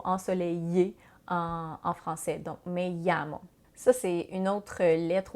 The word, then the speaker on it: llamo: Il faut faire attention par contre parce que quand il y a deux L, la prononciation est différente. Un peu comme on a en français.